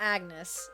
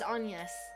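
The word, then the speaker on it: Agnès: Agnes. It's not Agnes. No, it's Anus. The only reason I know is because it pronounces it out loud sometimes.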